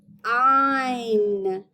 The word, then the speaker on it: fine: But what if I want to add a super silent E to the end? And I've changed that word. That super silent E is going to give all its power to that I so that I can say its word. Fine. Fine. Fine.